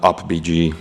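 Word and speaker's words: UPBGE: uh simple games with my son in uh up BG that's how I pronounce it okay so let's talk real quick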